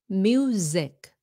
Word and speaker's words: music: Pronounce the S like a Z when the S is in between two vowels. Nha, nếu mà chữ S đứng trên giữa hai cái nguyên âm thì you pronounce it like a Z, like cousin, cousin, and music, music. See, it's a Z sound.